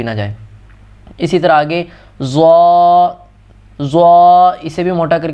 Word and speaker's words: ضا: پڑھ دیتے ہیں، جبکہ یہاں پر اصل تلفظ یہ ہے اس کا ضا. ضا نہ زوئیں پڑھنا ہے اور نہ ہی زواں پڑھنا ہے، اس کو ضا پڑھنا ہے.